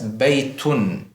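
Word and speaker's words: بيتٌ: So we read this as baytun. Baytun. This un sound is what is known as the tanween, and it is represented by the double haraka.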